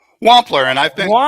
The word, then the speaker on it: Wampler: up that I was that I was pronouncing it wrong. I think I was calling you Jim W uh Wampler, but it's Wampler and I've been Wampler.